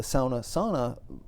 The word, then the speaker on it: sauna: variable, in this case, the Sana pronunciation of the word Sauna, that sort of directs